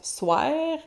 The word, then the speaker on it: soir: Donc, vous voyez la prononciation de soir qui prononce soir en québécois familier qui fait rimer avec anniversaire.